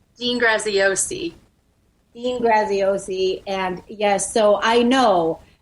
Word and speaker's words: Graziosi: you say his last name dean graziosi dean graziosi and yes so i know if you're following